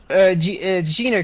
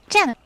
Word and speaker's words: Jenna: Gina, correct? Yeah, Jenna.